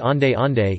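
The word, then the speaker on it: onde-onde: clapping pronounced clip-on or owned own pronounced on day on day is a traditional green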